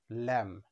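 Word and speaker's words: lamb: সুতরাং এই ওয়ার্ডটির সঠিক উচ্চারণ হবে ল্যাম।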